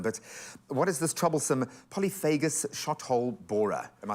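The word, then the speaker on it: polyphagous: But what is this troublesome Polyphagus shot-hole borer? Am I saying it right? Yeah, it's perfect pronunciation there. So the Polyphagus shot-hole borer is a minute little beetle.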